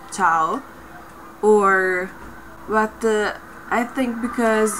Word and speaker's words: ciao: you can say and a lot of anglophones say chiao like ciao or but i think